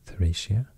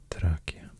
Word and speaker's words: Thracia: thracia talmasia dashia but i think the roman pronunciation is more like dakia dalmatia tarakia and the roman pronunciation is more more close to the swedish how i would pronounce it if i see the